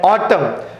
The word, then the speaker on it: autumn: Okay, so autumn N is silent and condemn N is silent.